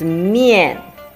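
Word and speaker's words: 面: For example, the first one is mian, which is a combination of mo and yan with the fourth tone. Mo ian, mian.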